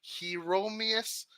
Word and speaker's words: Hieronymus: Hieronymus.